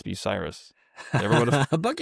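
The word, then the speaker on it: Bucyrus: pron in my head like oh this is pronounced Bucky Russ but it's Biryus.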